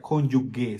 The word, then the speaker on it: cónyuge: Porque no se pronuncia cónyuge, se pronuncia cónyuge.